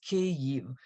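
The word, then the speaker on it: Kyiv: because they all say Kiev it's not it is two syllables the first a sound is like in the word big and the the ending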